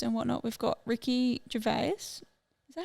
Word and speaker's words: Gervais: We've got Ricky Gervais.